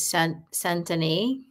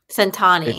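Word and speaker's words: cent'anni: She says it when she cheers is Centani. Centani. It's, yeah. That And means cheers, maybe in Italian.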